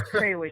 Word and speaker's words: Krawiec: your last name wrong cow is that pretty darn close there Eric it's kwick it's it's a tough